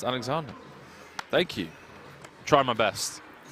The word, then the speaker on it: Alexander: Alexander is pronounced Alexander.